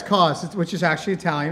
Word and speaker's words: Cauz: Cauz? Yeah, it's Cauz, which is actually Italian. It's pronounced Yeah, Cauz, yeah.